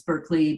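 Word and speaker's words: Berklee: same College as you Berkeley College is that how you pronounce it righty yeah like Berkeley California it's Berkeley Boston but it's spelled differently yeah ties um and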